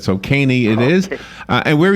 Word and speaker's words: Kanne: It's pronounced Kanne, long A, long E.